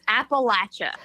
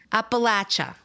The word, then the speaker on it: Appalachia: how is it pronounced so it's appalachia appalachia you're holding an apple in your hand and you're going to throw an apple at you i'm going to